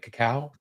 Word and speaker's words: cacao: But cacao, am I saying that right? Cacao.